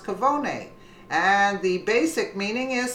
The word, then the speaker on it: cafone: It is a cafone, or cavone, pronounced cavone.